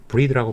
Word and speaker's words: breathe: all marine animals 해양 생명들이 breathe는 breath가 아니라 breathe라고 발음해야 되고요.